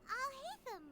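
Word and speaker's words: Alhaitham: So they in this way they changed the pronunciation. But apart from that, let's see. Hello. Hello. It's Al-Haitham, right?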